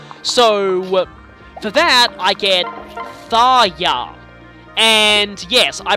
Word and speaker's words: Tharja: for that I get thya and yes I pronouncing the J like a y which I had a